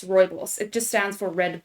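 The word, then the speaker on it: rooibos: word on the screen for those are listening it's spelled r o o i b o s Roy boss it just stands for red bush in Dutch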